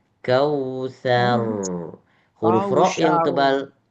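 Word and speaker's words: الكوثر: Bukan kal kausar. Salah. Kal kausar. Jadi dibulatkan. Roknya jadi bulat. Ini huruf sa, bukan sya.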